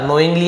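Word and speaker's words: knowingly: इफ यू नोइंगली, यदि आप जानबूझकर, नोइंगली यानी जानबूझकर, के साइलेंट होता है, अवॉइड टू आंसर माई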